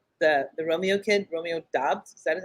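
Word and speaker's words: Doubs: wide receivers um the the romeo kid romeo dobbs that is how you pronounce his last name uh rogers has been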